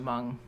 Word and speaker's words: Hmong: and he founded the Hmong Club and became its first president. Said it wrong. What? You said the H. Hmong. I did say he went to Benjamin Franklin High School. He founded the Hmong Club and became its